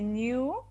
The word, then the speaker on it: knew: He He knew. This is silent K.